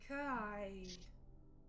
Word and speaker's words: Kai: It's one syllable. Kai. Just Kai, short and sweet.